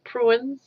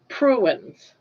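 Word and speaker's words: purines: Pruins um at the and puins is uh spelled as uh p u r i n e s in case I'm saying it wrong. Puins.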